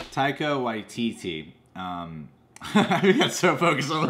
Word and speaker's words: Taika Waititi: With Jeff Goldblum, you know, like Taika Waititi was saying a lot. I wrote it. It's easier to pronounce here. Taika. Taika. That should be a Y. Taika Waititi. YTT. Taika Waititi.